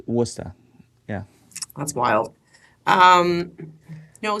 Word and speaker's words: Worcester: That's how you say that word? Wooster? Yeah, nobody will ever say it like Wooster. They'll say Wor- Worcester or something, right? Worcester, yeah. But it's for us Wooster.